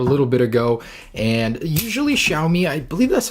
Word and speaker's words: Xiaomi: This is a phone that came out a little bit ago, and usually Xiaomi, I believe that's how you pronounce the company name, copies Apple.